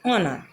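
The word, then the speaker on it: honor: में से कोई है तो उसके पहले यदि एच आ जाता है तो वहाँ पर एच साइलेंट हो जाता है तथा एच का प्रोनंसिएशन नहीं होता है। For example honest, our, ऑनर।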